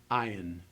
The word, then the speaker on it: ayin: The ayin is only going to be pronounced as a transition in sound. It's going to be a silent stop in your pronunciation of the word.